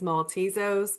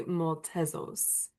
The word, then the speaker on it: Maltezos: Uh, well, I guess the English version's Maltezos, but the Greek version would be Maltezos. So that's how you Oh, pronounce it.